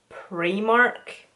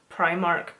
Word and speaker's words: Primark: I'm from Northern Ireland so we call premark over here premark but if you're English and sometimes I would notice Irish people would call premark Primark it just sounds so wrong like I know it